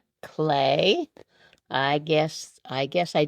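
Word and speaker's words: Klee: L E 15 across the Swissborn artist whose name sounds like an art medium. Clay. Clay.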